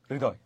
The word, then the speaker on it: হৃদয়: এরকমও ব্যবহার করতে পারো মূলত ঋ র এর মহাপ্রাণ উচ্চারিত হয় তারপর দ লাস্টে শ্বাস থেমে গেছে সেজন্য হসন্ত হৃদয় হৃদয় ঋ এর মহাপ্রাণ